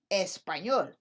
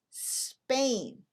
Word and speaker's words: Spain: said spaniel you'd say espanol but not in english same thing with the word spain in espanol espana esta